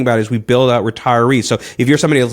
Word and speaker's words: Retirease: And by the way, those are the resources that we're talking about as we build out Retirease.